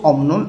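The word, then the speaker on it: 없는: আর এইখানে জোড়া বাচ্চিমে বিউপটা উচ্চারণ হবে এখানে, এবং বিউপের উপরে নিউন আছে, এই জন্য এই বটা ম উচ্চারণ করতে হবে, অমনুন হয়ে যাবে।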